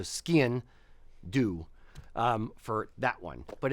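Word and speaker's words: sgian-dubh: I try to my the trick I use for skin do is say it like skiing but leave off the last G so skin do um for that one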